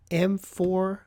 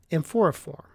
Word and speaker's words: amphoriforme: So I'm going to guess and say that it's mycoplasma amphoriform, AMPHORIFORME, or maybe it's amphoriforme. I don't think so. Usually you don't pronounce the E at the end of a name, except my wife's last name.